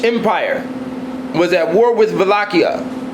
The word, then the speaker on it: Wallachia: The Ottoman Turkish Empire was at war with Wallachia. In European languages, W's are pronounced with a V sound.